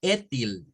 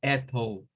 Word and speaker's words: ethyl: Por ejemplo, en esta primera no debemos de decirla como etil, ya, porque estaríamos pronunciándola mal. Esto más se debe pronunciar como ethyl, ethyl, ethyl.